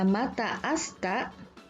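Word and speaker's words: また明日: Mata asita dibaca mata asta, artinya sampai jumpa besok.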